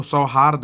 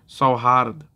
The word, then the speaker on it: सौहार्द: तो महा गलत है तो सौहार्द होता है सौ हर्द ठीक है ना सौहार्द ठीक द में हलंत अगर लिखा जाए तो इस तरह से लिखा जाएगा मतलब उच्चारण सौहार्द की होती है अगला आता है शुद्ध